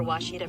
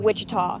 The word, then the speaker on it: Ouachita: Searching for Ouachita Baptist University. Back in Texas, everybody pronounces it Wichita, but really, it's Ouachita.